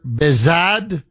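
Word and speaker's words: Behzad: Bazad, B E H Z A D. His last name is Gharfar. I think I'm pronouncing it correctly.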